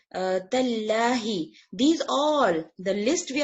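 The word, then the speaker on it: تالله: Tallahu is wrong, tallaha is wrong, tallahi.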